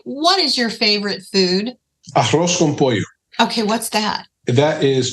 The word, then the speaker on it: arroz con pollo: Arroz con pollo.